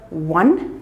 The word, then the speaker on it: one: The word one begins with the wa sound.